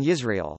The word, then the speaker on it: Yisrael: begin with various consonants, the semivowel, J, in Yisrael, the glottal fricative in,